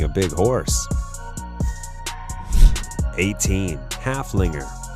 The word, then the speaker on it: Haflinger: teen Haflinger with a name that rhymes with Gunslinger halflingers are just as